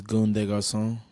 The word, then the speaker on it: Goon de Garcon: My name is Goon de Garcon.